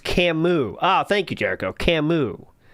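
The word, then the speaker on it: Camus: Also, it's pronounced Camu."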